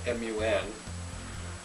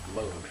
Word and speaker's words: Mun: Well, Kerbal's moon, the one that is spelled M-U-N. A lot of people I see call it Mun, but I don't believe that's the proper pronunciation. I believe it's spelled M-U-N, but it's still pronounced moon.